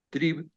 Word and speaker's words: Trieb: En alemán trib se escribe trieb que significa brote o disparo.